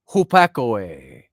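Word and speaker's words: ὑπακοή: And it looks, it's got the pi in there and the u and it's pronounced phonetically. It's hupakoe, hupakoe is Koine Greek for obedience, hupakoe, and it just means literally submission to what's heard.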